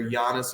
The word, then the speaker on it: Giannis: two best players are Giannis and Jokic, and they both have a soft G and a soft J, whereas we want to call them Giannis and Giannis.